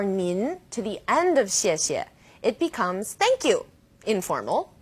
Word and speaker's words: 谢: pronunciation of CS yet you can think of it kind of like the word she and AH she she